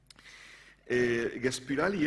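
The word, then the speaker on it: Gaspıralı: Gaspirali era un intelectual. Lo intento pronunciar en turco, porque sabéis que tienen esa i que carece de punto, ¿no? Y que es una especie de ü.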